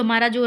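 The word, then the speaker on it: hemorrhage: हेमरेज की spelling देखिए एच ई एम O double R ए जी ई इसकी स्पेलिंग बिल्कुल अलग है और इसका प्रोनाउंसिएशन बिल्कुल अलग है।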